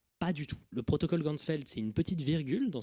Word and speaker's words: Ganzfeld: de la vision et en allemand champ entier ça se prononce gansfeld h ainsi il va créer